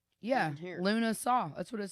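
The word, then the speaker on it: Lughnasadh: So it is Lunasa. I'm pretty sure. I totally butchered that. Okay. Lunasa. Here. How do I? It has the pronunciation. Yeah. Luna Saw.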